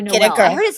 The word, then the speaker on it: Noailles: Or Noel. I heard it's pronounced two ways by people. Here's the thing: is the French will give it to you in French, Noailles, and then they'll give